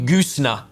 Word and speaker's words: Goosnargh: And is there an R in that word? I'm gonna make me spell it now. Goosnargh, Goosna. And it is from... I asked if there was an R, but there's the G and an H. There's a G and H on the end.